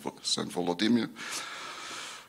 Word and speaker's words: Volodymyr: Russian history, whatever Russian means in this context, can be traced back to the baptism of Saint Vladimir, who in Ukrainian is pronounced as Saint Volodymyr.